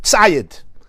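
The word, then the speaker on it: ציד: Now, it's written, Tzadik Yud Daled Hey, it's pronounced Tzayid.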